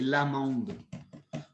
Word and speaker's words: Lamonde: Tu vas dire, ben non, c'est pas Lemonde, c'est Lamonde.